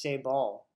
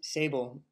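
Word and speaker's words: Sabal: of plants and uh the cabbage palm i heard is actually pronounced say ball i've been saying it's sable my entire life but um i don't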